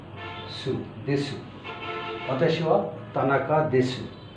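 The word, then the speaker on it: です: আর স হচ্ছে সু দেসু অতাসিয়া তানাকা দেশু তো দেসু লেখার সময় দেসু বাট বলার সময় দেস এরপরে আমি একজন এমপ্লয়ী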